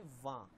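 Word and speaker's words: vingt: ठीक है, दी ज्वित, दी नफ, दी नफ, और 20 को बोलेंगे वा, वा।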